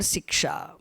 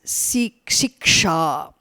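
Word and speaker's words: शिक्षा: phonetics, otherwise known as Siksha. Siksha Shastram. Siksha is a separate Shastram, the discipline. In fact, the letter she may be short. She, not she.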